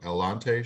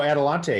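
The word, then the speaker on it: Adelante: one of those um I always say it wrong elante shoes oh adalante yes adalante yeah I got to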